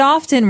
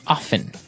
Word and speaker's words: often: people like to pronounce often right they kind of leave out the strong T sound while other people say